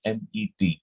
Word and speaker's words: met: बन जाता है MET, लेकिन इसका एक उच्चारण का रूल है। इंग्लिश में जब कभी ए आता है तो ये खिंच के बोलता है, MAT, मैट। जब कभी ई आता है तो ये छोटा होके बोलता है, छोटा, मेट, मैट, मेट।